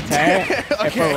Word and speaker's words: Tae: Do you know Tay by any chance? You don't know how to pronounce this tag? I'm pretty sure it's Tay.